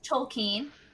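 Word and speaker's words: Tolkien: end of Holy Grail facing the RB pronoun Tolen okay I've actually never heard it pronounce that way that's interesting that is the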